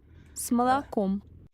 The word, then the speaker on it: с молоком: С молоком. Toes. С молоком. С молоком. Скажите, With milk. С молоком. С молоком. С молоком. С молоком. С молоком. Notice the S sound at the beginning and the ending.